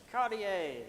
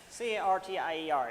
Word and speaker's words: Cartier: what's his last name Cartier yes c-a-r-t-i-e-r is it's French so you don't pronounce half of the word Jacques Cartier he sailed